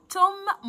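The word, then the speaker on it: tomb: توم مقبره، وخلي بالك ان البي سايلنت ما تنطقهاش.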